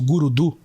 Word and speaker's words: Gurudu: Só que quando eu falo, eu pronuncio Gurudu, a fala, né? Por exemplo, Guru do treinamento, José Roberto Marques. A gente nunca escreve a preposição DU, mas a gente sempre fala ela, né?